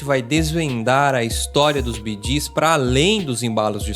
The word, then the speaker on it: Bee Gees: O nome Bidis veio da pronúncia B e D, que significa Brothers Gib ou irmãos gib.